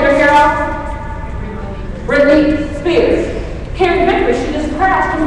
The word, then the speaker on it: Pyrrhic: Most people are creating Pyrrhic victory. Say Pyrrhic victory. Say Pyrrhic victory. Allison, how do you spell Pyrrhic? P-Y-R-R-I-C. P-Y-R-R-I-C. It's spelled crazy, and I always forget.